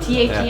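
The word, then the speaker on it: THVM: T-H-E-M? Yeah. It's T-H-V-M, but it's pronounced Them. And they're Silent V.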